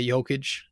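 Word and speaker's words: Jokić: nuggets you know jamal murray fun story nikolai jokage is how you pronounce his name fun story cool players to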